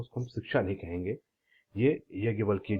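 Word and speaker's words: याज्ञवल्क्य: द end product च solvation हम जब यज्ञ यज्ञ वलक वल्की यज्ञ वल्की इसको जो उनका प्रोनाउंस है यही है ही वेरी फेमस ऋषि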